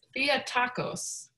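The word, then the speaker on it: Theotokos: and that might help so the word is via tacos so um one way to spell it is t-h-e-o-t-a-k-o-s um but another another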